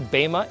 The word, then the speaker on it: bema: Hey everybody, welcome to the BEMA seat, pronounced actually BEMA in Greek.